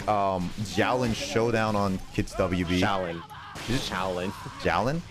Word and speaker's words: Xiaolin: Shaolin. Shaolin. Xiaolin? You pronounce it Shaolin, not Xiao. Yeah, whatever.